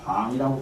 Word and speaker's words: 방: 방망이를 방이라고 발음을 하거든요. 그 봉자인데 선가에서는 방이라고 해요.